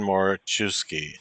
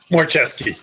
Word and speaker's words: Moraczewski: Andrew Robinson and Dan Moraczewski. Did I get that right, Dan? Moraczewski. Moraczewski. Oh, getting there. Only one syllable was wrong.